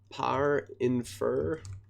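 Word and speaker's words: Parinfer: It's par-infer, I believe is the correct pronunciation, because it infers closing parentheses based on an indentation.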